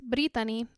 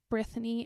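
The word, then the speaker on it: Brithany: raised in Mexico and in Spanish the H is silent so it's britani or Brittany in English it is not Brittany and that's literally my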